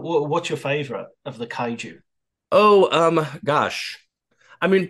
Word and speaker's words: Kaiju: you you'll have to help me with the pronunciation because the Japanese word for them is that right uh Kai Kaiju Kaiju Kaiju Kaiju okay so when you get